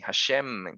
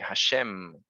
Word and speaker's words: Hashem: Hay otros que de pronto también pronuncian Hashem con N y Hashem significa el diente. Así que tengan cuidado, esfuércense, si van a pronunciar una palabra en hebreo, esfuércense en pronunciarla bien. Hashem con M, Hashem.